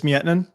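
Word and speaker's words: Miettinen: Julius Mietman.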